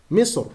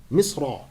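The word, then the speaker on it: مصر: So in the recitation of Abdullah, Al-Hasan, Talha ibn Musarraf, and Al-A'mash, Misr is pronounced Misr without tanween, Misra.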